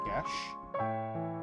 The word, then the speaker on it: Geass: Most people pronounce it Gias, but it's apparently pronounced Gesh, which I hate because it's not even close to being spelt like Gesh.